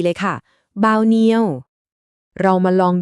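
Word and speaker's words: bao nhiêu: จำ คำ นี้ ไว้ ให้ ดี เลย ค่ะ บาวเนียว เรา มา ลอง ดู ตัว อย่าง การ ใช้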